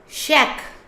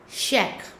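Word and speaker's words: chèque: Then is check. Because the CH combined sound is sh. We pronounce check.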